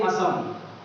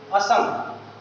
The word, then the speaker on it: Assam: Okay, waste Bengal and आसाम, or we can say Assam. Nowadays we pronounce it Assam.